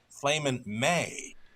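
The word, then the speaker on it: Flamin' Mai: And he mentioned the two horse has the pronunciation of a Flamin' May. So that's from trainer Dean Nixon. We've Well, been we'll go with it. mentioning Mai, but he likes May for this one.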